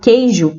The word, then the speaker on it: queijo: aqui mais exemplos tá a palavra queijo por exemplo ela tem o quê e o mas essas duas letras formam um único fonema nós não pronunciamos a letra u né então é temos